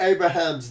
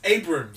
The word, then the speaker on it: Abrams: Had JJ Abraham's not like if he I like the way you say his name. It's Abrams. Abrams. Abraham.